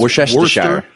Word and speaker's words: Worcestershire: It's Worcestershire. Chestershire. Nope. Minfield. It's Worcestershire. Lean parents. Lun parents. Y'all ain't crazy. I can't pronounce shit.